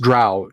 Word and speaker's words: drow: Yeah, the GDQ series gave us the drow. It is pronounced drow, D-R-O-W, drow. It is not dro. Drow like prow, sow, cow, now, how.